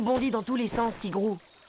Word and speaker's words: Tigrou: Salut, je suis Tigrou. Ça se prononce Tigrou.